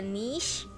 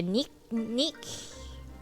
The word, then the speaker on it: niche: need to find a niche or all right i think americans say another way nick i don't know niche i call it i say n-i-c-h-e i